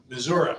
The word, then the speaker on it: Missouri: Missouri. Missouri. Missouri. Pronounce it right.